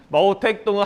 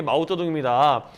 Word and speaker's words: 마오쩌둥: 마오택동은 한자 그대로 읽은 거고요. 중국식 발음 이런 게 마오쩌둥입니다.